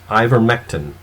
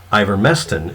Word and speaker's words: ivermectin: this is in your statement about ivermectin its ivermectin is the preferred pronunciation for the word ivormesten is also a pronunciation in a couple of